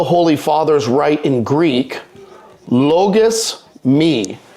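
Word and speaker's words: λογισμοί: Thoughts are, as the Holy Fathers write in Greek, logos me. Not pronounced logos moi, even though that's how it looks.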